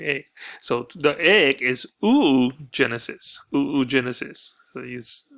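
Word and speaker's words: oogenesis: talk about the eighth so the egg is ooh Genesis who Genesis so he's pronounced and that's how well that's what my anatomy teacher taught me ooh Genesis okay site new Genesis so this is we're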